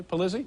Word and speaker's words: Polizzi: Polizzi, am I pronouncing it properly? Polizzi? Polizzi.